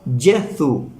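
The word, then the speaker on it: Gesù: escribe es diferente en en italiano se escribe jesú con g y se pronuncia jezu Yu en ruso se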